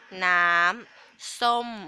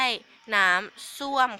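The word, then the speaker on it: น้ำส้ม: ก็ ระวัง นะ ค่ะ อย่า ออก เสียง ผิด จาก น้ำ ส้ม นะ คะ ดู ปาก คุณ ครู ให้ ดี นะ ค น้ำ ส้ม ไม่ ใช่ น้ำ ส้วม ค่ะ ถ้า เป็น น้ำ ส้วม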